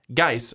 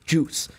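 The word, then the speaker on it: Guice: He just likes calling him Darius Juice because it looks like juice. I'm not going to lie. You could say it like that. You could. And get away with it. And people wouldn't think that you're like crazy. It's just the silent U.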